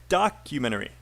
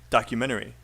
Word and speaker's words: documentary: pronunciation problem um documentaries where's the stress which syllable uh which syrup yeah one first yep that's right you nailed it so it's documentary documentary better documentary documentary okay nature documentary natural documentary okay i